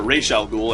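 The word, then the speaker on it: Ra's al Ghul: uh where it featured razal ghoul or raal ghoul as he's actually properly pronounced um the uh Ral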